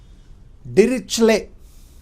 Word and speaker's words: Dirichlet: Much research work has been done on this function by a famous mathematician called Dirichlet. Of course, T is silent.